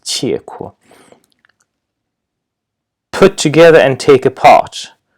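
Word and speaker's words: 契闊: This character, as I said, the normal pronunciation is qi, but in this compound, it's usually pronounced qie kuo.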